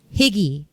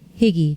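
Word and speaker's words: hygge: to the concept or the word higgy it's spelled h y g g e higgy I don't know if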